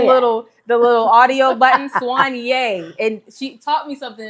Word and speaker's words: Soigné: Oh, we're at Swany. I had to say it right because I looked it up about three, four times on Google. I pressed the little the little audio button. Swany.